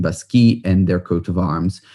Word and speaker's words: Baschi: And the Basquis name sort of rhymes with the name Bacchus, the god of wine.